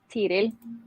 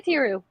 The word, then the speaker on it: Tiril: ethereal you can say like in Norwegian it's just tiril but like the r really like but you can say tiru it's fine yeah because like I've